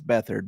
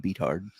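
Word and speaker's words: Beathard: get CJ beat hard it's bethard but I like saying beat hard yeah before somebody's like oh it's bethard he doesn't know we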